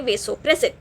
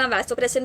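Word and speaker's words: vasopressin: एंड क्योंकि इन्हें blood vessels का कंस्ट्रक्शन करा रहा, इसका दूसरा ADH का दूसरा नाम है वेसोप्रेसिन। अब थोड़े लोग वैसोप्रेसिन भी बोलते, थोड़े लोग वेसोप्रेसिन भी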